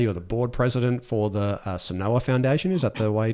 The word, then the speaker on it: Senhoa: You're the board president for the Senhoa Foundation. Is that the way to pronounce that? That's correct. Senhoa, nailed it, thank you.